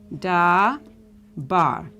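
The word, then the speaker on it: דבר: pad talk okay so this would be pronounced da ba which means this word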